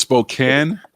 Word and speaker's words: Spokane: spoke cancer when they get through people say spokane it's across the states not even like it's eastern washington might as well be a different state people go spokane or you're from north carolina yeah it's spokane spokane yeah well thank you now i know